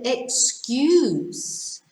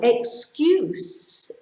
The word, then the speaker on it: excuse: meanings okay number 10 we have excuse and excuse so excuse the first pronunciation is a noun what's your excuse he